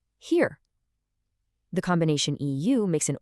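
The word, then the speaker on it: hier: Now if you flip it, I-E, that always makes a long E sound. The word for here is here.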